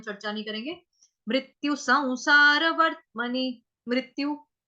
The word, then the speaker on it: संसार: अभी सौ में क्या है, अनुस्वार का उच्चारण आधा व होगा, सौ, जैसे संसार, उसमें भी पढ़ा था हमने स्टार्टिंग में, पहले वाले चैप्टर्स में भी पढ़ा संसार शब्द की कैसे संसार बोलना, संसार।